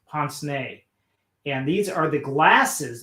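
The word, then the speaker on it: pince-nez: it's spelled um pins nas but it's it's pronounced poncene and these are the glasses that you see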